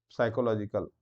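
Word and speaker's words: psychological: के लिए, है ना, साइकोलॉजिकल। अब पी एस वाई पी से स्टार्ट हो रहा, कोई समझेगा कि साइकोलॉजिकल हो सकता है, लेकिन ये पी से स्टार्ट होता है, पी साइलेंट रहता है, ठीक है।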